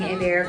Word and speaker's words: Hebert: Now I've decided, rather than the French pronunciation that I went by for a couple of years. My daughters and I are at a school of performing arts, and you know, I've been saying Hebert.